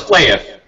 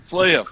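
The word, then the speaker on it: Flahiff: It's Flahif. Is that how you say it? Pretty close, Flaif. Flahif. Okay. Pronounce the H, it's fine.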